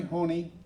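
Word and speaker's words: Honea: Sheriff Corey Honey is the elected Sheriff Coroner of Butte County.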